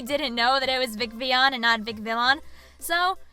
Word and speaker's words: Vicvillon: Vivienne the Pokemon so it's supposed to be pronounced Vicky on but I mispronounced it often as Vic Valon because when I made the channel I really didn't know that it was Vic V on and non Vic Valon so you'll hear me